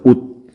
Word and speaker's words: 옷: 규칙이 적용이 되면 되니까 시옷의 대표음은 뭡니까? 시옷의 대표음은 디귿이었죠? 그러니까 이때는 발음은 옷, 이렇게 발음이 되는 거예요. 그래서 이렇게 디귿으로 가면 되겠네요. 그렇죠?